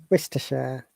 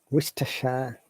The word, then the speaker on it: Worcestershire: there is no oh the O and R becomes u sound and it is pronounced Worcestershire Worcestershire Worcestershire foreign yes Worcestershire not ostershire um that's not the correct way to pronounce Worcestershire Worcestershire this is city